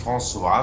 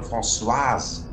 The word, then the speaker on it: Françoise: Aber die heißt, glaube ich, nicht François, sondern Françoise. Ne? Das spricht man, ne? Das SS mit, weil François ist ja ein männlicher französischer Name.